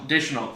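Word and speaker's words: Daigneault: But my guy, Mark, pronounce his last name for me. Deschanel.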